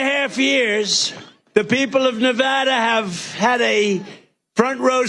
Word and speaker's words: Nevada: it correctly Nevada you got to call it Nevada with thousands of proud hardworking American Patriots and